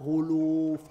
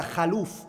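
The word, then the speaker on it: خلوف: alaihi wasallam said, "Wala khuluf." Allah said, "Wala khulufu." Some people read it as what? "Wala khaluf." They read it as a fatha on the khaf, and that's an incorrect pronunciation of it.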